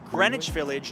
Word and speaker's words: Greenwich Village: Another neighborhood you're likely to explore is this one, pronounced Greenwich Village, not Greenwich Village.